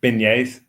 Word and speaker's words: beignets: Beignets. Beignets. It sounds Beignets. like beignets. It's a soft G.